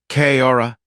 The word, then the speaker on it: Kaora: "Kaora." He introduced himself, pronouncing it with a care, Kaor with a roll of the tongue at the end.